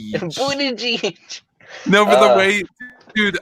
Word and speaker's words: Buttigieg: Okay, like phonetically, the way we spelled it out in one of the hot chats I'm in on Facebook was like it was B and then U with the line right above the U, and then D, and then I, and then J, and then like 5 or 6 E's, and then another J.